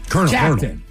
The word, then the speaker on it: Colonel: So again, these are the hardest English words to pronounce. It's a C word and it's a military rank. Colonel.